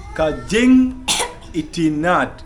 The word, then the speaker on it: Kajing itinat: Like in Khasi, I is pronounced it as E. That is why I found in this Kajing itinat. So itinat is So I is E in Khasi, guys.